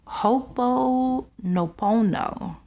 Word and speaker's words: Ho'oponopono: And it's called Ho'oponopono. So Ho'oponopono, it's what it's really called.